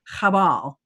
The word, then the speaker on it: Qabal: And the correct pronunciation is Chabal.